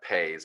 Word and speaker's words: Pais: to google him everybody dr salvatore cesar uh pays p-a-i-s um yes um finally actually wrote back